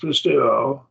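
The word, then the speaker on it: πιστεύω: So it's pronounced pisteuo.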